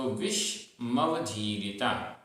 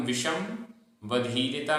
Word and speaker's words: विषमवधीरिता: आधा म होके, तो विषमवधीरिता। अगर हम विषम वधीरिता बोलते हैं तो फिर विषम यह म पूरा नहीं रहेगा, आधा हो जाएगा, इसलिए उच्चारण के समय विषमवधीरिता।